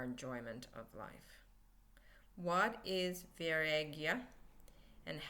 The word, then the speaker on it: Vairagya: Vairagya. Viagra. It sounds like Viagra. Maybe that's where Viagra comes from. I don't know. But it's Vairagya.